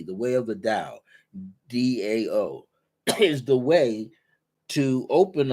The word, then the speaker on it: Dao: way of The Da the Chinese pronounce the t's as a d The Way of the da Dao is the way to